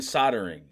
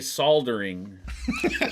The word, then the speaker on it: soldering: The L is silent in soldering. You don't say soldering. Soldering, Glenn.